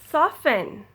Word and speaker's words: soften: Soften, often, fasten, listen, hasten.